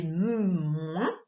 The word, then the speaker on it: moins: Et enfin, moins, cette fois la syllabe c'est M-O-I-N qui fait moins.